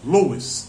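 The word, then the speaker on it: Lewis: há muitos anos é CS Lis Lis l e w i s Lis é mais ou menos assim que a gente pronuncia ele é muito conhecido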